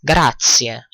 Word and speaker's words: grazie: which means "and you" notice that the "z" in "grazie" is pronounced as "TS" : "Gratsie" ok so we have just learned how to say: "good thanks and you?"